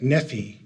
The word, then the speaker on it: Nephi: Um, and, uh, by Nephi's day, uh, the R had be had come to be pronounced with a e. So it would have sounded like nephe as uh you find